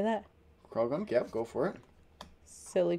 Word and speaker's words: Croagunk: Croagunk. Is that how you say that? Croagunk, yep, go for it.